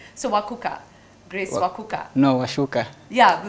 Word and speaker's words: Wacuka: Wacuka, CUKA. Don't put an H, don't put an S. It's CUKA. So Wacuka.